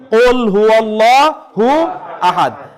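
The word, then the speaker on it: قُلْ هُوَ اللَّهُ أَحَدٌ: কুল হুয়াল্লাহু আহাদ। বলেন তো কুল হুয়াল্লাহু আহাদ। একেবারে লাস্টে বলেন তো আসলে আয়াতটা কিভাবে উচ্চারণ করতে হবে?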